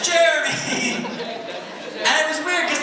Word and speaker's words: Jeremy: I recognize me, but it's actually Jeremy. Just so you know, you're saying it right. He's like, no, it's like, Jeremy. I'm like, no, it's Jeremy. It's Jeremy. Say Jeremy.